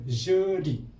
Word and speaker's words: jeudi: Mercredi ejaannya M E. Ini E, R C R E D I. Mercredi. Khamis, jeudi.